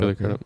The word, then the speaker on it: Crudup: And Billy Crudup, that's how you say his name, right? Crudup, Billy Crudup.